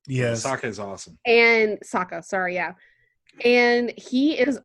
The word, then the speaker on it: Sokka: Scott, can I just give to give a quick shout out to Sooka. I always forget how to actually say his name, because he has no powers. Yes. Sokka is awesome. And Sokka, sorry, yeah.